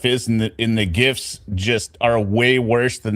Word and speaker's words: GIF: That's that's a hard G. So that guy who invented them who had to come out and ruin everyone's life saying it's pronounced GIF is full of It's GIF graphic.